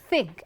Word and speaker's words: think: So, when you happen to see this particular symbol, your pronunciation would be like, I think, see, your upper incisors and your tongue, and then you need to blow air through the space, think, theta, okay, think, I think.